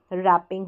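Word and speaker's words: wrap: Same ऐसे ही रैप में रैपिंग हो जाएगा। यहाँ पर डब्लू क्या है, साइलेंट है, डब्लू के साथ आर रहता है तो डब्लू साइलेंट रहता है, डब्लू को हम प्रोनाउंस नहीं करते हैं।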